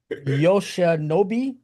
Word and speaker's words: Yoshinobu: How do you pronounce his first name, Fruit? I cannot. It is Yoshinobu.